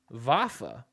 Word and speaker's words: Vafa: anyways next person uh Venus vafa Venus vafa that's how you pronounced the last name all right Venus great